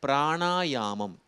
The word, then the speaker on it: பிராணாயாமம்: அது வந்து உபநிடதத்தில் வருவது அதேபோல பிராணாயாமம் அதுதான் சரியான உச்சரிப்பு இந்த மாதிரி ஒரு புது